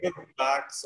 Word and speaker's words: Gurbaks: So So you can say Gurbaks or you can say Gurbaks. So I say Gurbaks because my full name is Gurbaksani. Oh, okay. So Gurbaks is my surname, cut short.